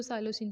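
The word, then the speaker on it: psilocin: P silent, इसको साइलोसिन पढ़ना है आपने।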